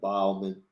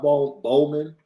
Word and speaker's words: Bauman: Barones, Kevin Bauman. Make sure it's Bow. As in taking a bow. It's not Bowman. It's Bauman. Bauman. Not Ballman.